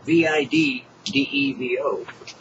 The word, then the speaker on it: VidDevo: We're recording today a Vivo, and that's spelled V-I-D-D-E-V-O, for KAYACKANOE. Yeah, all these words, right? Now, how do you spell that? That's a good question. You see, Vivo, V-I-D-D-E-V-O, is not video, but video devotional. VidDevo.